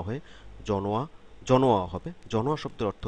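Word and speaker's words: 전화: করব এখানে আমরা শুধু এটুক জেনে নেই এটার উচ্চারণটা হবে জনোয়া জনোয়া জন হওয়া না হয়ে জনোয়া জনোয়া হবে জনোয়া শব্দের অর্থ হচ্ছে টেলিফোন টেলিফোন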